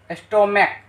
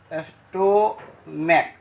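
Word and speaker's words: stomach: अगर CH कौ का उच्चारण दे तो ES जोड़ने की जरूरत नहीं है, केवल और केवल S जोड़ेंगे। क्या जोड़ेंगे, केवल S जोड़ेंगे। जैसे स्टोमैक, स्टोमैक, यहां देखिए CH किसका उच्चारण दे रहा है, कौ का,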